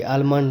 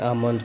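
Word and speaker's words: almond: एम ओ एन डी आलमंड नहीं पढ़ेंगे एल साइल इसका पढ आम पढ़ेंगे ए एम एम आम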